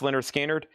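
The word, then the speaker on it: Lynyrd Skynyrd: We have Leonard Skinner, pronounced Leonard Skinner.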